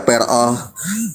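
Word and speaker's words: פרעה: Pei, res, ayin, he, dibacanya peroh.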